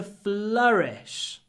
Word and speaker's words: flourish: a new school flourished and hold the L as well your FL it's flourished FL we move very quickly from the L to the r flourished flourished next one